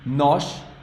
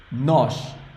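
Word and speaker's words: nós: only have one we no no the O is strong here o because of that thing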